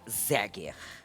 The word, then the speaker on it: Zeger: Escreve Zeger. Olha aí. E pronuncia Zeger.